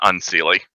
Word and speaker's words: Unseelie: the Sealy, although the Unsealy, I don't think I'm pronouncing that right. I'm much more... It's Sealy and Unsealy. Okay. You got it right.